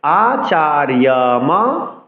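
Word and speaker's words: আচার্যম্: এবার আকে আমরা পরের ছত্রের সাথে যুক্ত করে উচ্চারণ করতে পারি আচার্যম হাতিম চমুম 8 অক্ষর। আবার বলছি আচার্য, অন্তস্থ যাকে ইয়র মতো উচ্চারণ করতে হবে।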